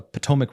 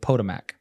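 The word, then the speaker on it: Potomac: what he's saying because he'll be reading a word and pronouncing it the way it's spelled yeah like uh he came to we were talking about the Potomic River and he said pmac you know and it's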